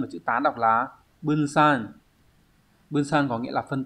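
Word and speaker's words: 分散: Số 3 chúng ta có chữ Hán là chữ phân và chữ tán, đọc là bunsan.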